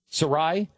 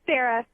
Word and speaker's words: Saira: Sarah you there it's Sarah yeah Sarah s you spell it s a s a i r a yeah but just pronounce it Sarah oh okay so I